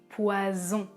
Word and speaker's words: poison: Je prononce poison. Les cordes vocales vibrent.